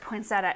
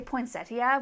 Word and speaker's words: poinsettia: Like I will admit, our region pronounces it poinsettia instead of say poinsettia, which is I think proper.